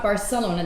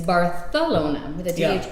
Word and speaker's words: Barcelona: than regular spanish and the biggest thing is that they pronounce things with the yeah so give an example though why am i drawing a blank on a word they use th barcelona barcelona so it's not barcelona that's exactly it it's bartholoma so when you hear